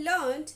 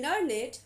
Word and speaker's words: learned: We say learned when it is used as past tense of learn, but we say learn it when it is used as the knowledgeable.